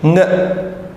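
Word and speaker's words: ङ: And now this is another sound which is like ng in sound in English. Nga.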